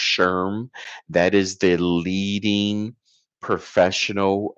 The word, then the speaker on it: SHRM: I believe it's pronounced SHRM.